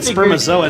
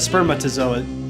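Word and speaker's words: spermatozoa: wrong too I did I said sper zoa instead of spermatazoa thank you drew thank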